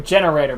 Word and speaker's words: Gene Raider: I thought your deck was called Gene Raider. So did I, but according to the Yukichuba Wyvern Watch, it's actually pronounced generator. So I've been saying it wrong this whole time.